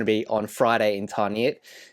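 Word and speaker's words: Tarneit: be on Friday in Tarnet. Yes, pronounced tarnit, not however it is that Loachy pronounces it and he was called out for that on social media which I found quite funny.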